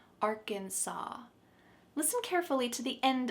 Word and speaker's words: Arkansas: There is an S at the end, but we pronounce it Arkansas. Arkansas.